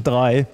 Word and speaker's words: Drei: And he said, well, it's typically pronounced in the language that is spoken in the respective countries. So, and therefore we're talking about Hutchison Drei, Austria today.